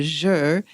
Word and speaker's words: Zhi: And the next one is the water one, and that's called the Zhi, which is spelled odd, Z-H-I.